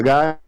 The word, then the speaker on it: Guy: Um canadense chamado Guy, não é gay, não é Guy. É por pronúncia, Guy.